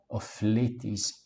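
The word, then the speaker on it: ὀφειλέταις: Ofeiletais, ofeiletais, não, ofletes imon, ofletes imon. Na presença de ditongos, nós não pronunciamos as duas palavras que o compõem separadamente. O fi, o ei e o i pronunciamos i, ofletes imon, e o tais no final de ofletes, ofletes, ofletes imon. O filetes imon.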